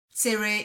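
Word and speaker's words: צירה: the same as kamatsu in modern hebrew segol and sere are pronounced the same e however in ashkenazi hebrew they are distinct where segol is pronounced e sere is pronounced a but to native hebrew speakers these distinctions are non-existent different from english vowels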